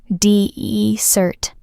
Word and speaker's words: desert: Desert, the hot, dry place, has 1 S. The stress is on the first part. Listen. Desert.